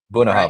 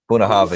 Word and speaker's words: Bunnahabhain: Bunnahabhain. Right? Is that how you say it? Bunnahabhain. See, You can hit that last with a V. Bunnahabhain.